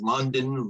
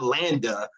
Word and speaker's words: Landa: too girly and feminine nobody could pronounce landa i would get called london laundry i mean you name everything but landa i would get called